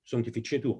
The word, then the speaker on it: Sanctificetur: Sanctificetur nomen tuum. Sanctificetur, il faut prononcer à l'italienne.